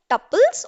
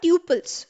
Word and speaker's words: tuples: Now, rows are also known as tuples or tuples. So you'll have various pronunciation based upon who is going to be instructing you or where you're learning it. In any case, both of these words mean the same thing. They're the right way.